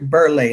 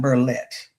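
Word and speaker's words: Berlet: And it's Chip Berlay, not Burlet. And he did have that French pronunciation on his name.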